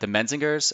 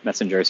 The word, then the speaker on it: Menzingers: Like the Menzingers, I always forget how to say their name. Messengers, yeah.